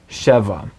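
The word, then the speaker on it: שבע: Notice the accent on the first syllable in sheva.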